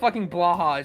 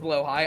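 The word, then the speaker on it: Blåhaj: the blah I know it's pronounced blow High I simply don't care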